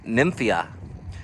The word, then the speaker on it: Nymphaea: whites hardy water lily i'm gonna pronounce it as nymphia queen of whites is